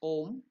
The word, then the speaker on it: om: the Mantra is om it is not much pronounced it is om if balanced you feel spiritual blessed Unity wisdom